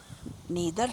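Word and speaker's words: neither: They are ಆ್ಯಂಡ್, ಬಟ್, ಇಫ್, as, because, unless, both, ದೋ R although, while, ಐದರ್ ಆರ್, ನೀದರ್ ನಾರ್. ಇದನ್ನು ನೈದರ್ ಅಂತಲೂ ಉಚ್ಚಾರ ಮಾಡ್ತಾರೆ ಕೆಲವರು, ಕೆಲವರು ನೀದರ್ ಅಂತಾರೆ.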